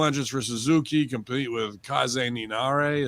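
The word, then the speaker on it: Kaze ni Nare: for suzuki complete with kaizen ninare is that how you say it or k's nine yeah no you had it right the first time that's what i figured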